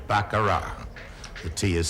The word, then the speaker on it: baccarat: the world we still pronounce it the way the French Do bakara the tea is silent